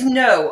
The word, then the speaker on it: Noh: tell you every time it's no opposite of yes well I think I